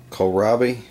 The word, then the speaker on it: kohlrabi: Kohlrabi, I think is how you pronounce it.